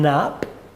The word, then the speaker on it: Knapp: health and social care Martin Knapp the K is silent by chance another health